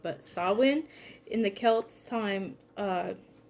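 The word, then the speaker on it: Samhain: and november and develop november being sawin is how i learned to pronounce it okay then so uh i'm gonna i'm probably gonna mess it up but sawwin in the celts time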